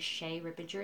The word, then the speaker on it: Che' Rippinger: So if you want to ask questions in the commentary, once again, my name is Shay Rippinger. It's spelled CHERIPPINGER, and you're welcome.